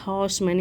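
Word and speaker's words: horseman: first time तो हॉर्समैन इसका correct pronunciation होगा हॉर्समैन यहां पे आट साइलेंट होता है हॉर्समैन पर हम ऐसे जनरली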